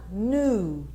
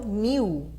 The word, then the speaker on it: knew: Passado, knew, tá? E não knew, tá?